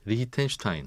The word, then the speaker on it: 리히텐슈타인: 리히텐슈타인. 네. 네.